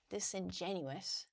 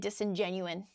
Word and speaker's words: disingenuous: Yeah, disingenuous. I think I've just been saying it wrong my whole life. Fake, not genuine. So yeah, not candid or sincere. I think I was probably just saying disingenuine, which is just wrong.